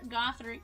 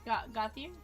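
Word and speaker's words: Gauthier: Cutter Gothic. Gothier.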